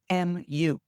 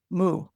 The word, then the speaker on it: mu: teacher replied moo uh transliterated from Japanese mu moo if you've ever studied